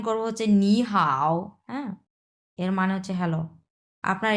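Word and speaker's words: 你好: Complete করে ফেলছি যে পাশাপাশি দুইটা যদি তিন নাম্বার টন থাকে তাহলে কিভাবে উচ্চারণ করব? স এটা হয়ে যাবে আপনার দুই নাম্বার টন উচ্চারণ হয়ে যাবে আর এটাকে আমরা যেটা আছে সেটা এটার কোন পরিবর্তন হবে না স এখানে আমরা উচ্চারণ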